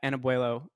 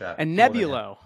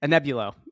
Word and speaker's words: Anebulo: me today is Simon Allen the CEO at anabo Pharmaceuticals did I say that right Simon it's not an easy one to pronounce an nebulo Pharmaceuticals but a nebulo I'm going to keep that in because I